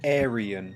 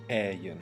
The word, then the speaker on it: Aryan: the word ayu yeah i got that wrong it's pronounced aryan not aryan to describe his idea